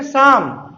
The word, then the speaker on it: Psalm: दें कि यहां पर इसे पढेंगे शाम वाइट इसको नुकसान यहां पर बिठा तीन साइलेंट है और एंड साइलेंट है हम यही बात तो